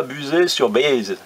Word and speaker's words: Buzet-sur-Baïse: n'étais donc pas à buzet sur baïse c'est ainsi que l'on doit prononcer à peu près bien que venant de